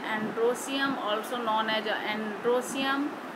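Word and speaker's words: androecium: और इसको स्टैमेन को बोलते हैं एंड्रोसियम, सीधे सीधे बोलते हैं स्पेलिंग उसी तरह से एंड्रोएशियम, ई लगाते हैं इसलिए, लेकिन बोलते हैं एंड्रोसियम।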